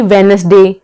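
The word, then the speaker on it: Wednesday: यहां पर सी क्या है साइलेंट है नेक्स्ट साइलेंट दी ए जाता है जैसे की वेडनेसडे सैंडविच भयंकर के आगे हैंडसम जज ग्रांड फादर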